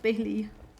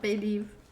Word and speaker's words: Bailey: yeah and this and so it's just bailey and not bay leaf not gonna hold there